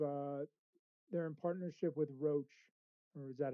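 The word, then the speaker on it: Roche: but they they've uh they're in partnership with Roach or is that how you say it? Roach.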